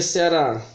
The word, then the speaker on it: Ceará: aqui para vocês o a gente escreve é ceará né o desculpa ceará o ceará como é que a gente pronuncia será na realidade se alguém perguntar para